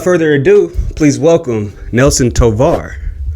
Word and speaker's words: Tovar: Is that how you pronounce your last name? Tovar. Yeah. Tovar.